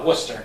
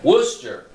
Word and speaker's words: Worcester: Worcester. Worcester.